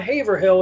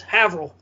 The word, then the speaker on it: Haverhill: this this town called haverhill it's not haverhill it's havrel and then even